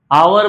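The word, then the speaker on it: hour: आवर में आइए। आवर start तो हो रहा है एच से लेकिन जब इसको हम प्रोनाउंस करते हैं तो एच साइलेंट रहता है और वोवेल साउंड से स्टार्ट करते हैं।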